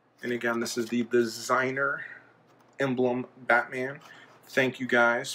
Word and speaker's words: DZNR: little emblems on there this is pronounced designer so da DZ in our designer and on the back